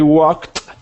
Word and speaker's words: walked: Fernando continuing and I walked five miles and locked in the park ah okay your past tense pronunciations were good walked has a t sound jogged has a D